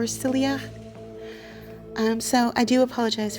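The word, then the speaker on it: Syilx: me to pronounce but the spelling is Sy y i l x and I believe the pronunciation is silak or silak um so I do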